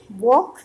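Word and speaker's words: walk: जैसे वॉक, इसमें भी एल साइलेंट है।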